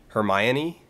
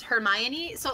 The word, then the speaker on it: Hermione: it was her Mayan her my Annie it's Hermione's like no no it's Hermione it is Hermione yeah I'm like her me oh yeah I know I know my brain went with her me own at one point but it was like no that's that's too wrong like that does not sound like a human name that that sounds like a pharmaceutical product nothing new sponsor of